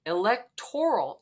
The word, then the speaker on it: electoral: relating to an election electoral is how it's said many of us say